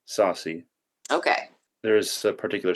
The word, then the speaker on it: Saucy: about who Saucy is your name supposed to be pronounced Saucy or sassy okay it is Saucy okay there is a